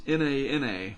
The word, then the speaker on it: Nana: asked me on youtube how are you going to pronounce n-a-n-a that's nana but it couldn't it's with my luck it's probably going to be like nanya with a little end tilde like el nino anyway um the g